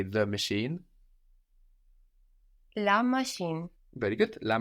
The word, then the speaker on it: machine: be pronounced in French machine machine machine the same more or less no so we end in NE e so we pronounce that last consonant we pronounce that n on the end because it's NE e